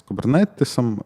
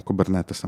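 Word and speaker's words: Kubernetes: будуть доступні в конфігураціях з кібернетисом чи під управлінням кубернетиса Мабуть так правильніше сказати і в цьому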